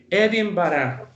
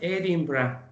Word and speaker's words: Edinburgh: Presten atención a cómo se pronuncia Edimburgo. Edinburgh, okay? Edinburgh, pero si lo digo rápido es Edinburgh.